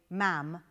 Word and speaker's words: ma'am: You must say "ma'am" in brackets to rhyme with spam.